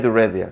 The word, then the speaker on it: read: Read는 스펠링은 똑같은데 발음이 달지. read레 red레야.